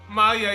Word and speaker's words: Maya: Somebody remind me the pronunciation here because I keep forgetting. It's Maya.